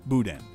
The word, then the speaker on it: boudin: Okay, so it's not Boudin, it's Boudin.